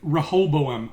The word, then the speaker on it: Rehoboam: going on with the big evil sphere with Rehoboam, which is how I learned it's actually pronounced, because she says it out loud.